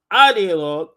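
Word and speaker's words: idéologue: How's pronounced in French? In French, ideologue.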